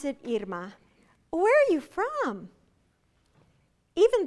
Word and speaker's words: Irma: and I tell them my father-in-law remembered the pronunciation of my name by thinking of earmuffs he called me Emma and it's fine if you call me Emma how do you spell